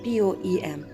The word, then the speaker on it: poem: me tell you that there are two ways through which you can pronounce the word poem. If you are going to adopt the American version, then it would be appropriate for you to say poem, and like me, if you are following the British Standard English,